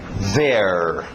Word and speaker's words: their: Pertencendo a eles, their. Their. Não esquece desse R.